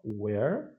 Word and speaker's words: where: então olha a pronúncia muita gente confunde uma palavra com a outra que que é igual não é igual não where é aberto é e aqui é fechado o em significado onde